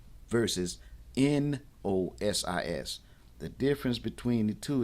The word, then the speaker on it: Gnosis: Nosis with the G is knowing with awareness.